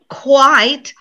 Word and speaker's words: quite: always mix up quit quite quiet look quit one syllable like i quit my job white like he's quite tall yeah again one syllable now listen to two